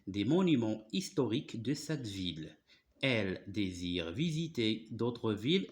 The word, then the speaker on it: ville: Monuments historiques de cette viille ville voilà alors c'est pas viille alors parfois i de se prononce comme par exemple vanille d'accord mais ici se prononce ville cette ville elle désire